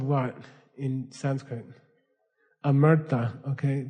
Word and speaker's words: Amrita: Amrita. Okay. People mispronounce it as Amrita. I don't know why. It's Amrita.